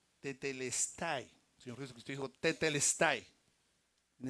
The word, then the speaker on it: tetelestai: esa palabra es una palabra griega que se pronuncia tetelestai señor Jesucristo dijo tetelestai en esa época se